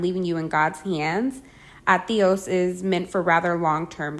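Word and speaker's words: adiós: be the leader here teach your friends to say it in two syllables with the stress on the second one atios since the D comes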